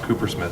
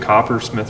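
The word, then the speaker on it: CooperSmith: I always get it confused, Copper Smith or Cooper Smith. But it's Cooper, and it's Cooper cool Smith, too.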